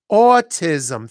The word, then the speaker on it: autism: they had autism and that's how you say it autism three- syllable word bum bum bum and it has the cbab vowel a autism so this child is